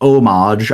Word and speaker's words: homage: And yes, by the way, for those of you that are wondering, it's pronounced homage.